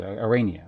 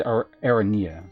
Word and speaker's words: Arania: Aran Arania. Arania. Oh, yeah. Arania. Okay. Well, I said Araneia. So be so like one syllable off.